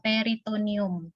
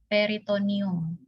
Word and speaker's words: peritoneum: Ya yang pertama rongga peritonium tulisnya peritoneum new Tapi bacanya peritonium peritonium Ya kemudian yang distended